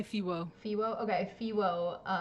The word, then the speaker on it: FEWO: I say Fiwo.